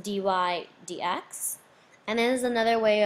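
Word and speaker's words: dy/dx: It's pronounced dy dx.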